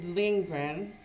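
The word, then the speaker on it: Lindgren: today uh I okay there is a writer named UST lingren I think that's how you say it Asar G ASD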